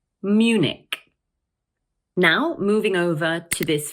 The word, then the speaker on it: Munich: Also notice that the CH at the end of the word is pronounced like a K. So once again, we say Munich, Munich.